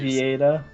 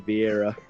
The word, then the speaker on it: Vieta: Vieta? You said it correctly. That's how you say it. I know. I was gonna keep calling you Vieira.